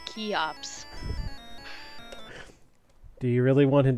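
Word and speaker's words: Cheops: Great Pyramid of troops I believe that is traditionally pronounced key ops do you really want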